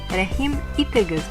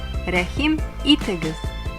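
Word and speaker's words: Рәхим итегез: The first sentence which you will see or hear in Russian may be DOBRO POZHALOVAT In Tatar it’s pronounced as RƏHIM ITEGEZ RƏHIM ITEGEZ and means Welcome!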